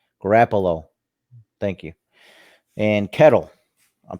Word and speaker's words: Garoppolo: Garoppolo, I forgot how you pronounce his name. Garoppolo.